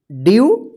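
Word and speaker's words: dew: डी ई डब्ल्यू, ड्यू।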